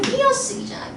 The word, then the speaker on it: 띄어쓰기: 그럼 무조건 뭐로 발음해요? 이로만 발음하죠. 띄어쓰기잖아.